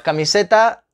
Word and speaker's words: camiseta: ventana vinton camiseta pues camiseta igual cuál es la sílaba tónica en camiseta para mí se está acá mi seta camiseta o camiseta pues camiseta la penúltima sílaba a sílaba tónica sí pero que después de